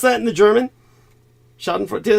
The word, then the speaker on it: Schadenfreude: How do you pronounce that in the German? Schadenfreude. Did I say it right? Schadenfreude, yeah.